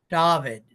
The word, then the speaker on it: Dovid: case he keeps the show but uh and pronounce your first name for me again please it's it's David David David I gotta I gotta I gotta find